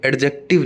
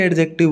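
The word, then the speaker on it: adjective: तो डीजे कभी भी एक साथ आ जाए इंग्लिश में तो हमेशा डी साइलेंट रहेगा। कैसे रहेगा, एडजेक्टिव, यहाँ पे एडजेक्टिव नहीं है बोला, एडजेक्टिव नहीं होता। अपन में से बहुत सारे एडजेक्टिव बोलते हैं और मैं तो आज तक बोलता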